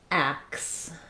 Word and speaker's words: axe: In this word, the letter X makes the KS sound. So it's the same as ask, only in reverse. And so to build that word, I would just start with the K sound, plus our vowel A again, ack, and then ax, ax.